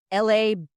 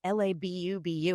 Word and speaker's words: Labubu: And I was like, Labooboo. And she was like, no, Mom, Labubu.